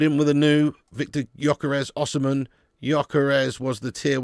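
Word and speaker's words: Gyökeres: Gyokeres pronounced Gyokeres. Yes, I know. I've already said that, mate. I've already said that. I just seem to go between Gyokeres and Gyokeres. Okay, mate?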